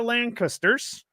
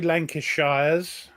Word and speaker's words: Lancaster: So we have the Yorks and the Lancasters. That's acceptable pronunciation. Yeah. Don't say Lancashires. I didn't say Lancashires. Oh, I said Lancashers. Lancasher. Lancaster. Yes.